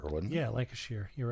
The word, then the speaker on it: Lancashire: Lancastershire, wasn't it? Yeah, Lancashire.